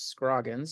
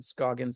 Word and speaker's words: Scroggins: No, my last name, though, has frequently been mispronounced, which is Scroggins, and so I've gotten Scoggins and Scroagins and all kinds of variations, and my wife is